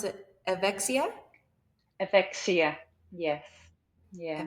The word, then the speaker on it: Evexia: Um, yeah, so and then now you have this, how do you pronounce it? Evexia? Evexia. Yes. Yeah. Evexia.